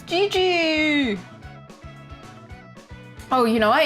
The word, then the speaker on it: Jiji: I know in English they spell it like Gi Gi, but it's actually J I J I. Isn't that interesting? I don't know. Because in Japanese it would be gigi which is also kind of cute gigi.